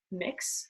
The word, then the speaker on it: Mx: Often use mix, which is spelled MX and pronounced MIX.